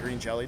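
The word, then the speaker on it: Green Jellÿ: Green Jello I mean green jelly don't yeah well as Bill explains it the Y has an umot over it thus making it pronounced like an O which is kind of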